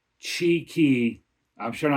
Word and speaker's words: Txiki: And according to the research I did, that is pronounced Chi-Ki.